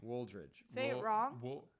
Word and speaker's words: Wooldridge: said it quick Wooldridge you literally pronounce every letter in the name Wooldridge Woolridge oh yeah Wooldridge